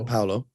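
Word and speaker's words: Paolo: Just based on what I've seen in the preseason, Paulo, is that how you pronounce his name? Yeah, Paulo.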